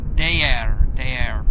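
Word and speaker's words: Değer: Yeah, it looks, his name is spelled D-E-G-R, but it's Deyer pronounced.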